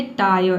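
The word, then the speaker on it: tire: यहां पे भी आधा र को आपको साइलेंट रखना है। केवल आय पढ़ना है। जैसे कि देखिए यहां पे है टाय। ठीक है? टी का ट हो जाएगा और आई आर ई का हो जाएगा आय।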